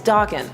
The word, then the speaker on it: Daken: And I'm ready for everybody to yell about how you say his name, even though at a con they said it was Daken.